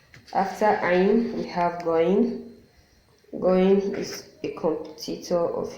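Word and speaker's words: غ: Many people pronounce goin as G, letter G, which isn't. I don't know how to explain this, but it's kind of like you're feeling weak to pronounce the letter G.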